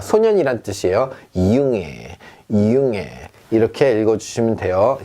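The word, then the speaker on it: Junge: 이융애, 이융애 이렇게 읽어주시면 돼요. 자, 중애가 아니라는 거죠.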